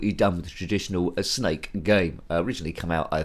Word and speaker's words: Znake: the ZX Spectrum 48k this one's called snake or is it pronounced Z8 it's supposed to sell snake but in a cool sort of way but anyway that's